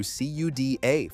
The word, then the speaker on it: CUDA: Hardware agnostic from Nvidia, the company whose entire empire was built on hardware lockin through CUDA for pronunciation.